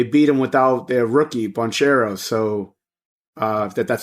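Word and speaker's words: Banchero: they um they beat him without their rookie buncheros so uh that that's how you pronounce his name but they're uh they're [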